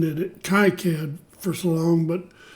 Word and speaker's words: KiCad: I've been pronouncing it KiCad for so long, but it's K-I-C-A-D, and it's free, runs on Windows, runs on Linux.